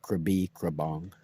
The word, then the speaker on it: Krabi Krabong: So I went to the Budai Swan and learned Krabi Krabong, which most people can't pronounce, but it's just Krabi Krabong.